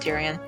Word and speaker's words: Tyrion: I pronounce it Tyrion.